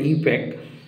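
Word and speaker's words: IUPAC: দিচ্ছি যদি পারো লিখবে আইউপিএসসি অনেকে উচ্চারণ করে ইউপ্যাক এর ফুল ফর্ম কি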